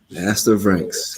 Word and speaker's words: Aster Vranckx: Is that how you pronounce it? Aster Vranckx, correct.